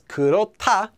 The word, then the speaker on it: 그렇다: an example of that kurota pronounced as kurota due to sound change rules which means to be